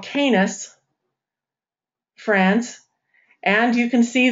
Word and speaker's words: Cannes: It's pronounced Canis. Thank you. Canis.